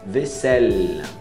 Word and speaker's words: vaisselle: Vaisselle, até o 2L ali. Então é isso.